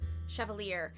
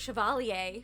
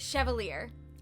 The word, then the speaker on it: Chevalier: Chevalier. I've been pronouncing it Chevalier for some reason, so I guess that's fun. But Chevalier.